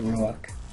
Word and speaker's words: Ruach: Of the Ruach. But if vowel pointed properly, it's R-U W-A-C-H, Ruach, to say it right.